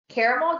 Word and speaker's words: caramel: words we say differently caramel you say caramel or caramel i think caramel and i realized there are two a's there but it's just how i say it caramel i would say